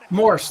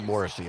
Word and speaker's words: Morris: Morris, like Morse code. Morris. Okay. Very good. I I'm sorry I put a E. I said Moresy.